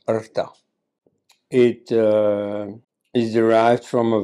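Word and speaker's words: Ṛta: It is Artha, usually pronounced in India as Rita or in South India as Ruta, but actually pronounced Artha.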